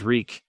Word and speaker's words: Reek: reek my name is reek it rhymes with weak they were just outside the